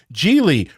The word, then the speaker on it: Gigli: Or he's actually going to say Gigli rhymes with really.